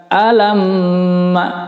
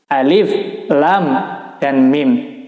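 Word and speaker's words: الم: Huruf asli maksudnya tidak membaca contoh di sini bukan alam, bukan. Tapi membaca huruf asli. Ini huruf alif, ya. Ini huruf lam. Ini huruf mim, ya. Jadi tidak diharokatin di sini. Tidak diberi tanda harokat atau baris. Tapi membacanya dengan huruf asli. Alif, lam, dan mim. Tapi tentunya tidak membaca alif, lam, mim. Tidak begitu. Perhatikan yang pertama huruf alif. Ini tidak dibaca panjang.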